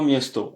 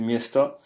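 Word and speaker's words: места: On dit pas miesto, on dit miesta puisque l'action est sur le mi et miesta miesta.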